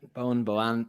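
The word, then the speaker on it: Boann: Correct me if I'm pronouncing this wrong, because the freaking Irish love to play with pronunciations. Bowen Distillery. Yeah, Bowen Distillery. Yeah, Bowen.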